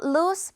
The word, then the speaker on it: loose: 루즈가 아니라 이거 지금 SE는 s로 발음돼서 루스가 돼요.